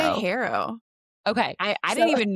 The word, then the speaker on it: HARO: Harrow. Okay. I So didn't even know it was pronounced a different way.